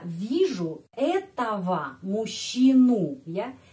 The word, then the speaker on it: этого: Я вижу этого мужчину, ya, этого. Bandingkan di sini. Nominatif этот, akuzatif этого. Dan sudah ada pelajaran tentang pronunciation atau logatnya, pengucapan huruf G, ya, kadang-kadang diucapkan V.